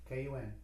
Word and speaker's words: Kun: Now, spell that? K-U-N.